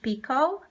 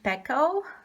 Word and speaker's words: Pekoe: This beauty over here is Ness Orange Pekoe, or Ness Orange Pekoe. It's sometimes pronounced in two different ways, and I love this hybrid.